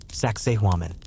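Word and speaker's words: Sacsayhuamán: Saxi. Try pronouncing that out loud. It sounds a bit like sexy woman.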